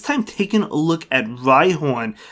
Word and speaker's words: Rhyhorn: taking a look at rhihorn yes i said it right horn not rydon now i do think